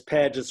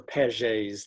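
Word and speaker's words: Paget's: rapid turnover that's prone that's not pronounced properly in the united states because it's it's really a french name and then and the chat's going the chat's going nuts it's pages or pages disease and uh very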